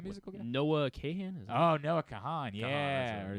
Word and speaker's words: Kahan: Noah Kahan. Yeah. I think it's just Khan is how he pronounces it.